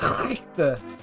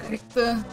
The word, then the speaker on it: Richter: Please say his name correctly. Oh, Richter. Yeah. Alright, Richter. You gotta put that German phlegm in it.